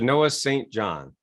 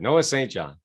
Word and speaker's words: Noah St. John: Noah St. John. That's how you say it. Noah St. John.